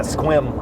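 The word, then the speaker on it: Sequim: an area of uh near seim Washington yeah squim I think squim was that how I pronounced I was corrected Yesterday by oh okay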